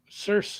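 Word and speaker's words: Circe: Cerse. Um, yeah. Um, Meline Miller's Cersei. And, uh, you say you call it Cerse. Cerse. You pronounced it Cerse.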